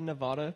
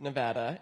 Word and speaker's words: Nevada: thing because at least everyone I've met here in Oregon have said Nevada and I have like and I have parent I mean I had grandparents live in Nevada so I've always pronounced it Nevada and yeah and then